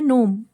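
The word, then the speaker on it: gnome: optionality fourth word है नोम a small imaginary creature believe to live underground and guard ट्रेज़ तो इसमें जी silent होता है तो नोम क्या होता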